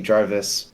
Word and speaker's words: Jarvis: Yeah, most Americans would say Jarvis, and I think it actually originally is like a Scandinavian name, but I think it also still would be Jarvis.